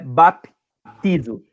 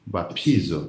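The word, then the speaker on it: βαπτίζω: Não fala o P paradinho, tá? Não é baptizo. Aqui é uma sílaba só. Então você tem que falar ela inteira. Piti. Piti. Pi. Piti. Pi. Bapizo.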